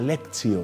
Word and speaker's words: lectio: la práctica de algo que se llama la lexio divina se escribe lectio la lectio divina en muchas parroquias en muchos lugares se está trabajando la lectio pero se pronuncia lexio lexio divina y a través de la lexio